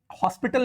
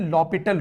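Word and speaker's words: L'Hôpital: अब इसको ये मत करिए, इसको हॉस्पिटल नहीं पढ़ते हैं, ठीक है। ये जो एच और एस ये दोनों ना साइलेंट होता है, इसको पढ़ते हैं लॉपिटल रूल।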